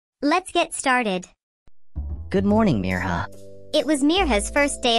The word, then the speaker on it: Mirha: couldn't say it right they stretched out the eye until it sounded like an e and there are sounded wrong some people even forgot the H hey Meo MEA Mayha